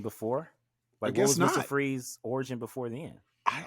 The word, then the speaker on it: Fries: spells he goes it's pronounced freeze spelled f-r-i-e-s yeah that's actual fruit